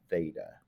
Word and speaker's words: theta: those that don't know that is theta that's how you say it greek symbol theta and theta is used